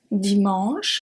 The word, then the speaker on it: dimanche: We have the silent E, which is usually at the end of a word, such as dimanche, dimanche. We don't say dimanche E, don't say that. We say dimanche.